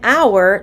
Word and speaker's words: hour: look at the word our our starts with the letter h which is a consonant but it doesn't sound like it sounds like ow the vowel sound ow it will take me